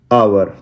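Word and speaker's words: hour: पहला है आवर, यहाँ पे एच साइलेंट होता है, इसे आवर बोलते हैं।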